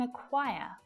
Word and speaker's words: acquire: The same thing can be said for the C in acquire. Pointless, superfluous, doesn't need to be there, but it is.